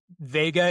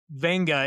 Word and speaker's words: Vega: It's actually Vega is how white people say it, but yeah, Venga is how you actually say it.